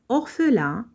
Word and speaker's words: orphelin: On peut répondre Damien, un jeune orphelin, vivait dans une cabane. Damien, un jeune orphelin, vivait dans une cabane. Prenons le mot orphelin. Dans ce mot, les lettres P et H représentent le son F.